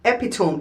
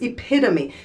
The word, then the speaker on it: epitome: The word is not epitome. It's epitome.